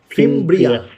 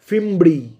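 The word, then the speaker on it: fimbriae: ফিমব্রিয়া। ঠিক আছে, আর যদি আমি প্লিউরাল বলি, একের অধিক বলি, অর্থাৎ সবগুলোকে যদি আমি একসাথে বলি, আমি কি বলবো? ফিমব্রি।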